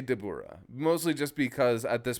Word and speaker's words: Dabura: Dabura. The emphasis is on the wrong syllable. His name is Dabura, and then you elide that to get Dabra.